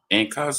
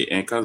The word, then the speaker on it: Inca: And also you have the Arawaks also, and you have the Incas, which you guys say Incas, but it was the Inca.